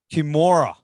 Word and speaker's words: Kimura: Is that how you pronounce Kimura. Kimura. Yeah. Yeah. It's all good, man. We get it all the time, man. Even when I joined the band, I was like, Kimura? Chimera? What?